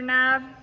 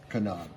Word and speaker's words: knob: So here's a bunch of the dash pieces, the door handle trim pieces, shifter knob. Kanab. Kanab? There's a K in it. Oh, sorry. It's pronounced Kanab.